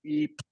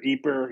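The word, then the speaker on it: Ypres: people usually use y-p-r-e-s is the French spelling and it's pronounced like Eep or Eber you know apra something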